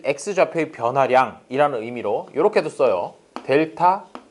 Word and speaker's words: 델타: 델타 x. 이 델타가 변화량이란 뜻이야. 삼각형이라고 그려놓고 읽기는 델타라고 읽고 뜻은 변화량이라는 뜻이에요.